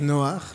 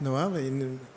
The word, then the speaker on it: Noach: Its real name is Noach, not Noah.